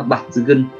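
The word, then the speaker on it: 抜群: Cách đọc của nó là bạt dư gân, bạt dư gân, nghĩa của nó là nổi bật, là xuất chúng, nổi bật, xuất chúng.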